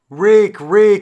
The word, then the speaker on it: Reek: Reek, it rhymes with freak.